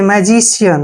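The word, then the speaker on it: magician: आई ए facial देखिए मैजिशियन मैजिशियन में भी सी के बाद आई ए आया है इसलिए सी को स पढ़ रहे हैं ठीक है ना सी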